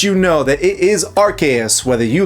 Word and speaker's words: Arceus: Like the localized versions of these games have busted their butts to let you know that it is RKS whether you like it or not.